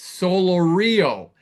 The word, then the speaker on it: Solorio: It's Solor Rio.